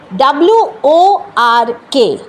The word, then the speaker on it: work: WORK, তাই না? তো যাহাতক আর আছে আমরা কিন্তু আরটা প্রোনাউন্স করি, ওয়ার্ক বলি, ওয়ার্ক। This is not the pronunciation. The pronunciation is this one, work.